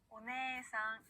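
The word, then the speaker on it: おねえさん: 자, 이번에는요, 에단 뒤에 에가 올 때, 그리고 에단 뒤에 이가 올 때도 에 발음을 그대로 늘려주는데요. 자, 언니, 누나라는 뜻은요, 오네상이라고 합니다. 따라할게요. 오네상.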